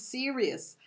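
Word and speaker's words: Sirius: to tell you this Sirus is one of the serious Ser because people have different pronunciation but it's serious this is a star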